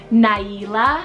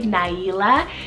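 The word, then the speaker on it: Naila: means brave and wild Nyla spell n-a-i-l-a Nyla it has a little bit of a different print pronunciation then maybe what it looks but this one is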